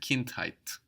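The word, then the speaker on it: Kindheit: found another pattern here height is spelled he e t height so going from the English hood of China Hood to the German height of Kint height we can see how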